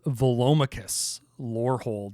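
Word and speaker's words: Velomachus Lorehold: like a 5-year-old after they learned how to pronounce the word Thesaurus it is Volus lold it is a seven Mana boros Elder Dragon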